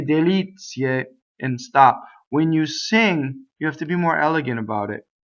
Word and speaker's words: delizie: Okay, so not le delizie, but le delizie. Now, delizie, we have the accent is on the E, so we know that all of our E's are A.